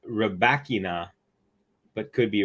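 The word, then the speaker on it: Rybakina: So I think she might say Rebekina, but it's actually from the players themselves. So that's really cool. So Rebekina, or let's see, I'm going to play it. Elena Rebekina. Rebekina. That's exactly how she said it.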